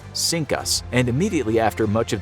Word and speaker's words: CINCUS: The fleet had previously been known as CINCUS, pronounced “Sink Us”.